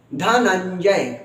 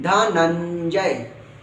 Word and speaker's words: धनंजय: भी कहते हैं धनंजय यह तो आधा य य और ज लग गया तो इसका उच्चारण ही लोग मतलब काफी इसको कठिन समझ लेते देख कठिन नहीं है धनंजय आपने तो अन का जो उच्चारण है बस ऐसे करना है धनंजय धनंजय मैं फिर